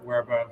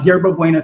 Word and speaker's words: Yerba Buena: It's part of a project called Future Proof um, which he originally created for Werebove Center for the Arts. Am I pronouncing that correctly? Uh, Yerba Buena Center for the Arts YBCA.